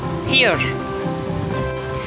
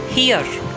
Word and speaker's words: here: Third on the list is here. It's not here. Here. Come here. It rhymes with ear.